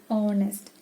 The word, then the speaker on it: honest: take one word honest in this word honest h is silent here it is not harnessed it is honest so the word begins